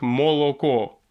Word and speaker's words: молоко: то есть если допустим по русским к и молоко хотя все прекрасно все три гласные это о в итальянском языке они скажут молоко какая классная написано так она и будет произноситься чем это важно в